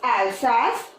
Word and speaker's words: Alsace: angry what is that Alsace it's a French name so a little bit difficult pronunciation but once you give it try it's fine okay so it's Alsace and Lorraine let other